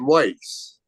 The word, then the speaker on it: Weis: So, I just moved to Pennsylvania recently, and I don't know if you guys know these supermarkets called, it's called Weiss, but it's spelled Weis S.